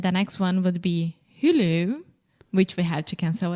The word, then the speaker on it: Hulu: Okay, but Alexia, it's not who. That almost seems French. Who? Who? Hulu. Hulu. Hulu. Hulu. Perfect.